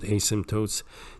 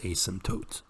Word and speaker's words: asymptotes: it these are the asymptotes and remember in the word asymptotes the p is silent so you don't say asimp there's no P do not pronounce the p is asymptotes alrighty and we're done